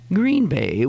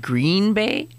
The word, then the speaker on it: Green Bay: I did I said Green Bay Green Bay because that's for a visit that's what people say who that's how mostly people pronounce it they they put the accent on the adjective and if you think